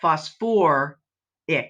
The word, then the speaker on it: phosphoric: would become sulfic but with sulfur and phosphorus they decided that it must sound better if we actually use two syllables so it's sulfate but sulfur ick phosphate but phosphor ic all the others are